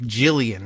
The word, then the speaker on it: Ghislaine: At one point I thought that Ghislaine, however she actually pronounced it, came out as like Jillian, essentially.